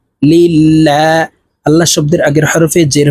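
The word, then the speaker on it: لله: লিল লাম খারাজ লা লিল্লাহ আল্লাহ শব্দের আগের হরফে জের হইলে এই লামকে লা অর্থাৎ পাতলা করিয়া পড়িতে হয় তো আমরা এই লাম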